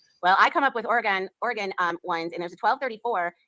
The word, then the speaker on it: Oregon: 1234 in Oregon. Hey, did I say it right this time, guys? Oregon?